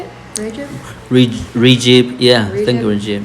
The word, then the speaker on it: Recep: Soon he discovered that the ringleader, one of his own officials, Recep Pasha. Murad had already made is that how you say it? Recep?